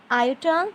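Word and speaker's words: iota: अब ये i जो है, इसको सिंबल को हम एक नेम देते हैं आइटा. आयोटा. आयोटा इज़ the pronunciation for this I.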